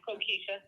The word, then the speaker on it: Kokisha: Is this Kokisha? Did I pronounce that right? Yeah, Kokisha. Kokisha, got it.